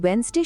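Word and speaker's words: Wednesday: Island শব্দে এস অক্ষরটা silent, listen শব্দে টি এর কোনো সাউন্ড নেই, আর ওয়েন্সডে শব্দে প্রথম ডি অক্ষরটা আমরা উচ্চারণই করি না।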